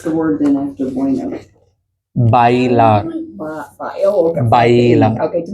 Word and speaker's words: bailar: I learned it as Baylor, but okay. Bailar.